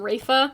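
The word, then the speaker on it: Rayfa: wanted to draw them i always pronounced her name as rifa but then i think in one of the animated cut scenes in the game they pronounced her name rafa and just like really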